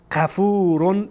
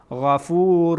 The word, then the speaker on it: غفور: الله نم ن ن اشتباهه نرن نرن نرن غفور غفور غفور غفور غفور قفور اشتباه غن را درست با تلفظ كد و ما قفت غن از ابتدا